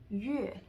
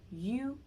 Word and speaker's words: yue: They're saying yue, when actually the U here is actually U. It's the U with the umlaut, so it's pronounced as yu, yue.